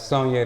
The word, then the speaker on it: Soigne: owner of, I don't want to say the name wrong. Say it for me. It's Sonya the brand.